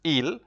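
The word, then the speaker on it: ils: So there's they, masculine, which is il. The S is not pronounced.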